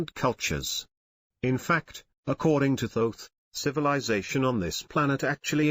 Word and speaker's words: Thoth: is a man named thoth pronounced with a long o someday people say thorf but he pronounces it thoth the hieroglyph shows his